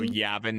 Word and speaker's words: Yavin: probably pronouncing that wrong cuz I was pronouncing Yavin or Yavin Yavin and everybody was like on me for that so Yavin is the correct thing.